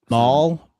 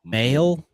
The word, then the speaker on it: Mahle: Um I can't say Tyler um Mahl, Mail, Mail. I've no idea how to say his name. m a h l e Yeah, so I think Mahle, yeah.